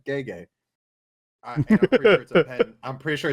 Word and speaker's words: Gege: We actually looked up how to say his first name because I've never heard anyone actually say it. I've only ever seen it written. And it said Gege.